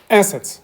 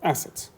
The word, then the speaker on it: assets: Assets, активы. Запомните, что ударение падает у нас на первый слог. Assets. Угу. А? Control? Uh-huh. Assets.